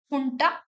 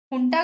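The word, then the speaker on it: junta: Overthrow करके वहां military हुंटा, हुंटा government, वो लिखा जनता जाता है बट इट is pronounced as हुंटा, military हुंटा।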